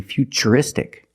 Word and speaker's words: futuristic: words what's the pronunciation what's the pronunciation of T that's right it's ch because we see t e we pronounce the T as CH and we see t r i in futuristic again the t is pronounced with the CH sound so the first word